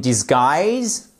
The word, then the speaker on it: disguise: Losing my job was a blessing in disguise. Disguise. Disguise. On a l'accent tonique ici.